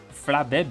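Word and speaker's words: Flabébé: Flabbe, is that how you say it? It's got two accents on the e. Bl accent eu is more of an a sound, right?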